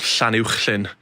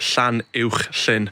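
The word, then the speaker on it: Llanuwchllyn: just outside Bala called Llanwchlyn, and it's got that ch sound and the sh right next to it, Llanwchlyn.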